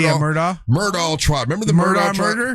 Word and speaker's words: Murdaugh: Murdaugh. Yeah, Murdaugh.